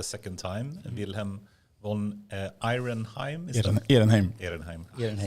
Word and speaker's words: Ehrenheim: Ehrenheim. It's the Swedish pronunciation, I guess. Vilhelm von Ehrenheim.